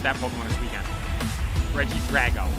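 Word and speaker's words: Regidrago: ra or Drago sorry I learned how to pronounce that Pokemon this weekend Reggie Drago not Drago it's not a dragon it's a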